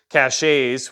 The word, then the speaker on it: cache: wherever you keep your caches, which we know is pronounced cache, but I like it better cache all along the route or anything like that towards your emergency relocation area.